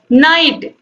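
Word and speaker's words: knight: नाइट, KNIGST, इसका मतलब होता है योद्धा, KNIGST मतलब योद्धा होता है, और ये नाइट मतलब रात होता है, तो यहाँ पर इसमें के साइलेंट होता है, ठीक है।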